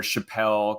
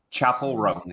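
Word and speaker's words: Chappell Roan: kept butchering her name calling her Chappelle calling her all the chapel rone is how you say her name yeah I'm just used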